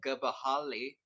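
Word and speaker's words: Gbahali: Beast and 2023 Edition the gahali I believe that's how you pronounce it it's basically a chameleon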